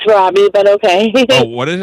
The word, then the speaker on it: Robbie: Rodney? It's Robbie, but okay.